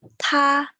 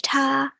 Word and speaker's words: 她: Next up, same pronunciation, 她, but this means she or her. Even though it sounds the same, so in spoken Chinese,